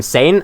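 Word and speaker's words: Sein: might pronounce her name sane and I did for a while as well but I heard a pronunciation sign recently and looked it up and it's probably the correct one it's a German name so that's what I'm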